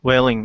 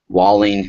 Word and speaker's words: Whaling: good discussion with Michelle Whaling. Is that how you pronounce it? Walling, not just another brick. Walling.